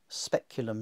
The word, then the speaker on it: speculum: Speculum, not speculum. Articulus, not articulus. English word article, which just means a little joint. Angulus, corner. Callida, not calda. Here we see again the